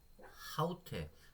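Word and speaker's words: αὕτη: 중요하더라구요 위에가 기본이거든요 그래서 보시면은 아우가 아니죠 후 후토스라고 발음을 하셔야 되는 거고요 아우 아닙니다 하우테 자 보이시죠 지금 거친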